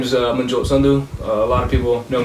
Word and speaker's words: Sandhu: so just to begin my name is uh sundu a lot of people know me as